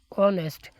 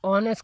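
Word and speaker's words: honest: अब यहां पर क्योंकि एच जो था वह साइलेंट था तो इसकी वजह से उसके बाद वाला लफ्ज क्या था? ओ था और ओ जो है हरूफ वोवेल में से है। तो इसकी वजह से इसको एन ऑनेस्ट कहना सही है।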